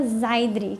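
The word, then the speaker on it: seiðr: E também passou o conhecimento da magia Zaidri, que se escreve S-E-I-D-R ou alguma variação disso.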